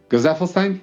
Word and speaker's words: Gesaffelstein: Gazafelstein, that's how you say it. I don't know if anyone knows how to pronounce his name. My German self honestly just goes to calling him Gesaffelstein, but that's probably not correct either.